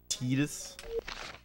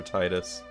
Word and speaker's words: Tidus: I'm of the camp that usually goes with the original Japanese pronunciation of characters, but I make an exception for Titus. Because I just feel like an idiot saying Titus.